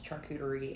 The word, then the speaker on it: charcuterie: I had to ask Google one time how to pronounce charcuterie, and I had to listen to it about 5 times before I actually understood.